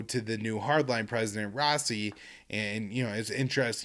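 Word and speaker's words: Raisi: will be the the new prime minister uh rossi i i'm gonna pronounce his name r-a-i-s-i uh will will be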